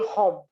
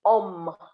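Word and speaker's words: homme: like a full vowel you cannot say hum the h is silent so you say om so it is used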